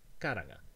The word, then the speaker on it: karanga: And if the word has no heavy syllables, you put the stress on the leftmost light syllable, as in karanga, to call.